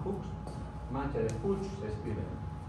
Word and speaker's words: Fuchs: Fuchs, mancha de Fuchs. Fuchs, lo llamamos Fuchs.